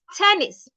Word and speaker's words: tennis: For this, your tongue is inside, as in tennis, not tennis. It's tennis. As in tortoise, not tortoise.